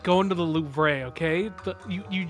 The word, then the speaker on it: Louvre: What do you want to call the Louvre? Yeah. Like the loo, like the toilet? The Louvre? Yeah, there's a V in there, but...